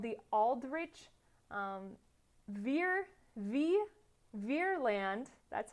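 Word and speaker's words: Vreeland: So as a fruit of this panic, one, they blamed Roosevelt, but two, Congress passes something called the Aldrich Ferland, that's how you say it, sure, Ferland Act.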